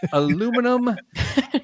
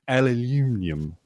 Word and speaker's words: aluminum: to my head and thought about how the British pronounce aluminum and I got so excited that I mispronounce aluminum aluminium to Showcase their talents